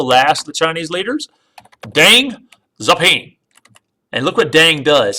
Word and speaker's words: Deng Xiaoping: you need to know, Deng Xiaoping, it's spelled Xiaoping.